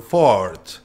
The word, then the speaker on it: Fort: una fragancia masculina que era Fordman by Ricardo Ford. Al comandante hay que pronunciarlo así, si no, no.